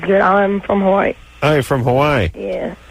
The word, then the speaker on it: Hawaii: on for more from Hawaii yeah how come we always call it Hawaii and everyone in Hawaii calls it Hawaii it's like a glottal table kind of like an apostrophe and then in Depaz